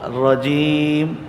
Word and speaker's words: رجیم: کو موٹا پڑھیں گے۔ تو یہاں اس کو رجیم، را کو موٹا پڑھیں گے۔ ایک تو تلفظ کے